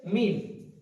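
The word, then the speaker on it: ميم: তো তারপর আছে মিম, এখানে মিম, মিম একদম সোজা, মিম দ্রুত ঠোঁট একসাথে মিলিত হবে, মিম, এবং লাস্ট আবার একবার মিলে যাবে। প্রথমে মিলে থাকবে মিম, তারপর আছে নুন।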